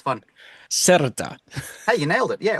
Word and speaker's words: Cerda: So in English but in Spanish, because I'm South American, it's cerda. So it's I'm a not little going to bit be able to harder say for that. the Anglo tongue. You got to roll your R a little bit.